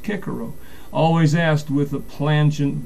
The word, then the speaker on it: Cicero: the wise old Roman sinic Cicero also says pronounced kiaro always asked with a plent double dative obviously